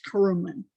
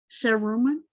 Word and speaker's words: cerumen: are going to produce carumen. Carumen is the scientific physiological word for earwax. Cerumen, as my mother's correcting my pronunciation, cerumen.